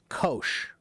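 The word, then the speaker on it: Kocs: There's a small city called K-O-S-C. I don't know why it's not letting me spell it. K-O-S-C. Kosh.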